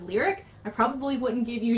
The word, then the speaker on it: Lyric: follower of me and you pronounce my name instead of lyric I probably wouldn't give